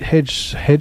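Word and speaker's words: Hegseth: back in right that's what they want Pete HED hedg is how you say his name HTH defense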